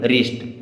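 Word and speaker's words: wrist: आर आई एस टी अब डब्लू के बाद में आर आ गया तो य डब्लू को नहीं पढ़ा जाएगा अब इसे हम केवल क्या पढ़ेंगे रिस्ट क्या पढ़ेंगे रिस्ट यानी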